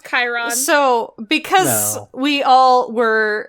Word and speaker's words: Chiron: shut up I refuse to learn how to pronounce that it's Chiron so because we all were uh dancing around